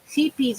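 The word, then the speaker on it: Scheepjes: Sheepies yarn, yeah, it's from England. And it's spelled sheepjes, Sheepjes.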